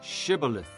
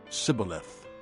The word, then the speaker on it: Shibboleth: If he replied, "No," they said, "All right, say Shibboleth." If he said, "Sibboleth," because he could not pronounce the word correctly, they seized him and killed him at the fords of the Jordan.